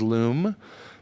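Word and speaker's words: Lume: also an artist and her name is Loom it's spelled l-u-m-e and again you don't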